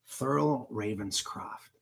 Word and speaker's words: Thurl Ravenscroft: just in case you're interested looks like this Thurl Ravenscroft he's the voice of the who stole Christmas you're a mean one mr.